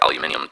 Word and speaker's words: aluminium: If you want gallium, you need an aluminium or aluminum, as the Americans say, facilities, okay?